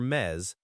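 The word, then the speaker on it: mes: You'd say gs me m e s for mez meaning months and to answer you could say month name is estamos and month name we are in month name estamos.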